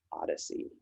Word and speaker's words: OHDSI: Sciences and Informatics Collaborative, also known as OHDSI, pronounced "odyssey".